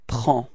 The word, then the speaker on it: prends: Okay, so you can see that we've got S at the end and then D as well, but then we don't pronounce them. So actually the only thing we will pronounce for this form is P-R-E-N, and it's the sound prends.